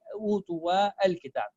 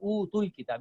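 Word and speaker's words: أوتوا الكتاب: to read it like utu wa al-kitab. We said 0 means it's a silent letter, so we ignore this alif. So utul kitab, you need to connect.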